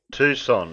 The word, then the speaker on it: Tucson: was very trying last week in Tucson Arizona Tucson it's pronounced um that's how you pronounce it well